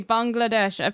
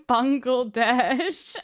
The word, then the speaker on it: Bangladesh: what's happening in Bangladesh am I saying it correctly Bangladesh because I feel like like you know yeah B yeah you're saying it right okay MD M donut thank you so much don't do it like Assan you're fine yeah Assan literally goes bangle Dash and no he goes